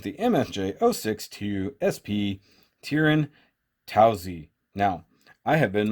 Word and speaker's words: Taozi: in it is the MS jo6 2sp tearin' taozi now I have been mispronouncing this forever I've been calling it the towels I like thinking it had an O in